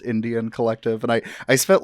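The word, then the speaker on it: NDN Collective: As it's spelled NDN, but it's pronounced Indian Collective, and I spent like the first hour before we started recording trying to figure out what NDN stood for.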